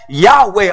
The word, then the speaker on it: Yahweh: Israel y h wh sometimes we pronounce it as Yahweh or Jehovah or Jehovah but the